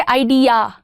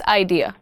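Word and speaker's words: idea: बट या there are better ways of pronouncing it टू। अ लॉट of times people से आइडिया। या का sound नहीं डालना है। इट्स आइडिया।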